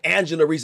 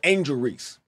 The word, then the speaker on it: Angel Reese: at angel angel Rees I I was even saying her name wrong how many of you mother out there that said Angela Reese instead of Angel Reese a lot a whole